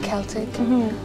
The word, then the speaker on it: Celtic: And you sung Celtic language, right? Celtic language. The Celtic. Yes. That we pronounce it Celtic.